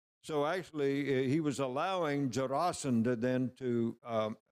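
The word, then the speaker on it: Jarasandha: actually he was allowed jasanda then to um by the way it's jasan not jarasand by I'm not sure how you learned how to pronounce it but there he was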